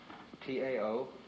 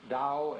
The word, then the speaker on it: Tao: So their principle of nature is called a Tao, T-A-O, pronounced Dao in the Mandarin dialect, Tao in the Shanghai dialect, To in the Cantonese dialect.